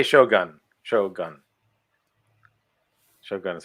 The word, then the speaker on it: shogun: Oh, so you say Shogun? Shogun. Shogun is how it's spelled. Like Shogun. Not gun, goon.